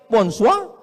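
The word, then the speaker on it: bonsoir: Bon soir, bonsoa.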